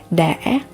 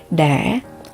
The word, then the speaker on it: đã: Now if you talk about the past, you can just add the word đã before the verb. Đã. So in Southern Asian, you can pronounce as đã or đã.